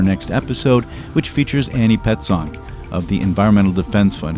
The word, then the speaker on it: Petzonk: episode, which features Annie Petzonk of the Environmental Defense Fund, whose name I, for some odd reason, often mispronounce as Pestonk.